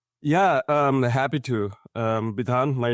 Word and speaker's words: Bidhan: backstory and Babel yeah um happy to um ban my name if you are wondering how to